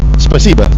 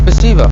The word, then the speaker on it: спасибо: Spasiba. Spasiba.